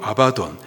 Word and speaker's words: 아바돈: 그놈의 이름이 있는데요, 히브리 발음으로 아바돈, 헬라 발음으로 아볼론입니다.